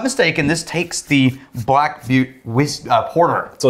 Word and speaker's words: Butte: Is it pronounced Butte or Butts? Butts. The S is invisible and the E is silent.